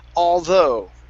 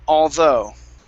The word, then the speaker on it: although: the word is pronounced although okay stress on the end of the word although okay so instead of oh it's an ah so open up the mouth a bit more ah all although yeah yeah good one